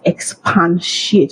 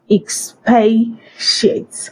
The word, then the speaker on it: expatiate: Remove the first again. It is not expansiate. All right. It's pronounced as expansiate. Expatiate.